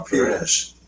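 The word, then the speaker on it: Pires: No, Peres. Peres, the Portuguese. Joao Peres. Yeah, or she's not Portuguese. She's yes. Yeah, I Where's she think it's from? Portuguese. Is she Portuguese? Peres.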